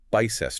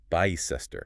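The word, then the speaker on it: Bicester: Your brain immediately wants to pronounce that as a long vowel. Maybe like bice. And the correct pronunciation uses that short I sound making it bicecester. Bcester.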